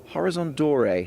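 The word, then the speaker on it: Horizon d'Or: get to he Runners Horizon dor now I believe is the pronunciation you You' very kindly set me straight on that he's a smart horse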